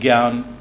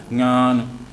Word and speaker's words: ज्ञान: जैसे कि शब्द है ज्ञान, ऑलराइट। अब हिंदी बेल्ट में हम बोलते हैं ज्ञान, ऑलराइट, जबकि नेजल साउंड है इसमें। अगर आप किसी मलयाली व्यक्ति से कहेंगे वो उसका सही प्रोनाउंसिएशन करेगा, ज्ञान, नेजल साउंड है, ऑलराइट।